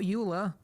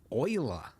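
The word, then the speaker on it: Euler: Same Not uler oiler. Yes, I know they went with the weird pronunciation.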